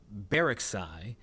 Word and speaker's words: Baraksai: for 16-year-old Mara Bar Let me make sure that I pronounce it correctly from what the uh police chief just said, um Baraksai.